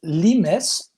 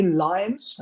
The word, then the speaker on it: Limes: correctly oh it's it's lemus remess okay if we pronounce it the english way limes lions translates in german